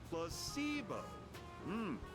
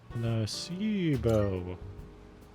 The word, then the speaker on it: placebo: Repeat after me. Placebo. The stress is on the middle syllable. Placebo.